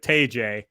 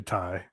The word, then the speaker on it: Tay: happened is you know someone who didn't know how to pronounce her name uh went with tayjay and uh now that she's signed i think she's the head by the way uh it is actually ty she spoke up and